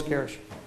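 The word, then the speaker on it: Carisch: a handful of friends and family members M Kish come one up you someone in my name is Kish and that is spelled t r a c y c a r i s c h Miss carish is there a statement you would like to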